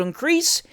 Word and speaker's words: increase: "But that our loves and comforts should increase, emphasis on the last syllable, crease, loud, even, 1, 2, 3, 4, then loud again, as our days do grow, emphasis on days.